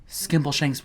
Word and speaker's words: Skimbleshanks: But if we don't get the milk right now, Skimbleshanks will become number one. I'm sorry, did I pronounce that right?